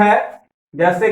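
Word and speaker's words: hedge: उसके बाद है हेज क्रिकेट्स, याद रखना डी साइलेंट है।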